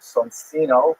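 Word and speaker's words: Soncino: painters were this the sonino family. I will probably pronounce it sonino because you know I was born in North America but it is uh in situ it would be pronounced sonino.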